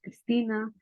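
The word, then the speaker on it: Cristina: you really like it Okay let's listen it's pronounced Christina and it's spell c r i s t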